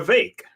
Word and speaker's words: Vivek: buddy over here and vake rhymes with cake ramas Swami um and